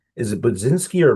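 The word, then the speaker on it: Budzinski: Is it Budinski or B? How does she pronounce her last name? So, uh Bzinski.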